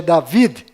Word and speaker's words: David: no final, Rei Davi, que na verdade é David, com D mudo no final, e Jacó, que